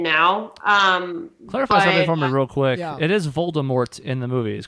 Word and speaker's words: Voldemort: real quick it is Voldemort in the movie he's correct with a T yes because she also came out recently I think if you want to go and said the T is silent I know I know